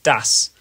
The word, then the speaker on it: das: The only common exception I can think of is one of the German words for the, which is the word das. Pronounced with a short A sound, A.